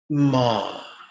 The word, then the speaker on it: ma: This time we're going to play with the syllable ma, just like in the word mama.